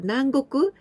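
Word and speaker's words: 南国: people adding this kanji minami it means the south but here we pronounce nang and nang goku the countries in the south so countries in the south actually but nangoku it can be tropical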